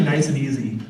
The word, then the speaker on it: Nicieza: page kept telling people the wrong way to pronounce my name so it was me cheesy it was nice and easy um so he just purposely kept doing it I'd have people come to me at convention I'm creeping me cheesy what is the correct pronunciation you have to try it that's easy it's Spanish so yeah I've never gotten